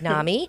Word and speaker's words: NAMI: Illinois and that is Nami did I say it right you said it right okay because I had a question I was like do we even say is it Nami Nam but it's Nami which is the National